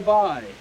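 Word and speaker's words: b'y: a song from newfoundland it's called eyes the bye dubai is the local pronunciation of the word boy is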